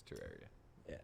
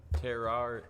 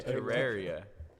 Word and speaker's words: Terraria: Terraria no it's terrar I can 100 % confirm it's Terraria it's Tera the Greek Terra not ter terar terar okay Terraria Terra never mind not ter teria Terraria that's how we pronounce it what have we been